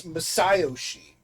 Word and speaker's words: Masayoshi: Could it be Masayoshi Shido? Masayoshi. No, it's Masayoshi.